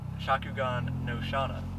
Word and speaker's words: Shakugan no Shana: this car is based off of the enemy Shakugan no Shana sir yes that's it I was told by the owner that's the way you pronounce it so we're good but the whole